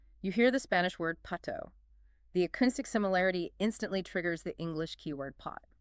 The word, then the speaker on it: pato: Let's use the textbook's example, learning the Spanish word for duck, which is pato, pronounced pato. Step 1 is acoustic link.